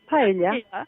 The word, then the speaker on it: paella: Paella. Yes, and I was so delighted to see, Marimar, that Prince Felipe visited your vineyard and visited your kitchen and totally enjoyed your paella.